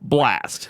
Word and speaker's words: Blxst: but it's You fucked pronounced Blast.